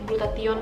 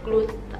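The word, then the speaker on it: glutathione: mengandung rusak rayon atau aku lebih sering ngomongnya glutathion tetapi yang benar bacanya Glutera Glutera glutathion nah Kasih TNI sendiri bisa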